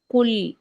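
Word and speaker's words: قُل: அப்ப அந்த காப் ஹெவியானது குல் ரைட் அப்ப அந்த காப நாங்க ஹெவியா உச்சரிக்கணும் சரிதானே அப்ப குல் யா யா ஐயுகல் இந்த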